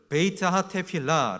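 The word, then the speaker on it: בית התפילה: 전통적인 이 기능은 크게 3가지로 있는데 히 부려 발음으로 이거를 베이츠 하타테 필라 라고 합니다 베이트 라는 것은 집을 얘기하는 거고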